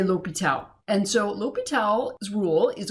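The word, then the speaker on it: L'Hôpital: section 4.8 l'hopital's rule it's spelled La Hospital some people leave the S out but you say l'hopital and so l'hopital's rule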